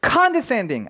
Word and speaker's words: condescending: 잊지 않으셨으면 좋겠는 것은요 이 단어의 발음 특히나 강세 에요 칸테 샌딩 앞에만 강세가 있는 게 아니라 굉장히 총 2번 있거든요 근데 재밌는 점은 가한 뒤 스타 엔딩 새 내 사실 가장 강한 강세가 있습니다 해서 강세가 두 가지다 두개다